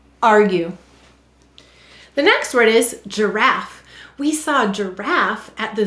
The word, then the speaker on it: giraffe: earth why did the g say j g may soften to j before an e i or y and there it is so it's saying ger and then why do we have a silent e in giraffe this is an unseen reason